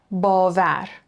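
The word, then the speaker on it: باور: Bavar. So again, we have that a, that vowel sound before it, and it also starts a syllable. Ba, var, belief.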